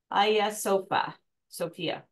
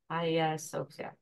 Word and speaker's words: Hagia Sophia: Again, make sure your slides are saved and pronounced Hagia Sophia. Okay. Hagia Sophia.